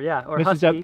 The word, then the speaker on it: Husqvarna: Now, there's some controversy on how you pronounce. Americans say Husqvarna. Or Husky. Mrs. W says Husqvarna. Husqvarna. How would you say it? I say Husqvarna.